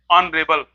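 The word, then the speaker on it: honorable: इसी तरह से ऑनरेबल, एन ऑनरेबल, ऑनरेबल सम्मानीय आदमी, ऑनरेबल नहीं कहते हैं, ऑनरेबल कहते हैं।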